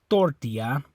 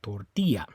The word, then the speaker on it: tortilla: Okay, so it's not the O, you don't say tortilla. It's not the A, you don't say tortilla. It's on that I, tortilla.